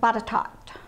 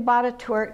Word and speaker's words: Botetourt: in Botetourt County Virginia some of you may know that pronounced a different way how many of you have heard bought a tort pronounced bata talked that's the way my grandmother pronounced it but I'm gonna do Botetourt because it's kind of the way it sounds and this was a